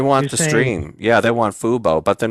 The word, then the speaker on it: Fubo: We were making fun of the Fubu, but it's really Fubo, like football. You know what? I don't know. If anyone's on here, they need. Is it Fubu or Fubo?